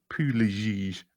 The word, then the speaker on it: Pugliese: And your first book is The Wealth of Connection by Vincent Pugliese. I should learn to pronounce it. He says it like he's from New Jersey.